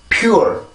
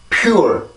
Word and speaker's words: pure: 절대 pure, pure 이렇게 하지 말고 pure, pure, pure 이렇게 발음을 해주셔야 이게 이 단어의 정확한 리듬이 됩니다.